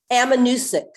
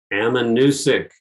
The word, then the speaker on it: Ammonoosuc: Monosuc. Is that the one you mean? Yeah. It's not Ammonoosuc. part of the. What is it? Yeah, thank you. Ammonoosuc. Ammonoosuc.